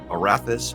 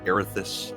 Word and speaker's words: Erathis: i will be playing erathis or erethus however you wish to pronounce it he is going to